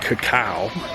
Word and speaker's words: cacao: name comes from uh the word is pronounced cacao which we were doing incorrectly before and that's what chocolate's